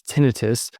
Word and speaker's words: tinnitus: Also tinnitus, which most doctors like me pronounce tinnitus, that ringing or hissing sound in the ears.